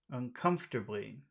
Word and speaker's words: uncomfortably: where is the accented syllable in uncomfortably? Uncomfortably, uncomfort, Uncomfortably. uncomfortably, uncomfortably. Where's the accented syllable? is a part. Listen again. Uncomfortably. Uncomfortably. Come. Come. Okay.